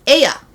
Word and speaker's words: Ea: but they basically said, let's do it Japanese style. So we'll do that. Ea. We're going to call this god Ea.